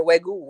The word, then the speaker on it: Wagyu: I had a Wagyu steak for the first. I pronounced it right, Wagyu.